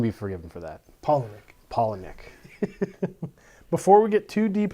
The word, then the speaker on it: Palahniuk: for having me Matt and it and it's Palahniuk Paul holla Nick I don't think we want to make him